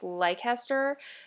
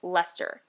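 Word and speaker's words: Leicester: right by the way i've been pronouncing uh blueface uh bfl fiber as blueface lycaster i am horrible at this someone actually corrected me it's lester blue-faced lester so going forward i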